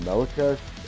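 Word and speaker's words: Melechesh: Hello everyone, this is Ashwadai from Melakesh. Greetings from Jerusalem. The proper way to pronounce the band name is Melakesh or Melakesh, more exotic.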